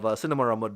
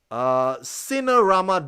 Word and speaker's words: Cinerama: Um, so yeah, that's a bit of the architecture of Cinemarama Dome. Cinemarama Dome. I can't say it right. Let's say it good. Let's get that right. Cinerama Dome. Yeah, Rama, my name, Cinerama Dome.